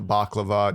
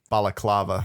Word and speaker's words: balaclava: just civilian clothes, Chinese combat surplus boots, a baklava, just that shit. Just basic ass We got baklava? Yeah. balaclava. Thank you. Yeah. I like how you went after you pronounced it correctly.